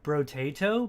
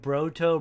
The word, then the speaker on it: Brotato: and a few others tried to say bro bro tato but I kept saying broto brotobrado or and all these weird things I couldn't say it right so he thought it'd